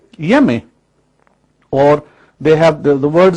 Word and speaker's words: Onyeme: These Ashanti people, they identify their Almighty Creator as someone called Yeme, or they have the word spelled is N-N-Y-E-M-E, O-N-Y-E-M-E, Onyeme, but they don't pronounce the O and the N.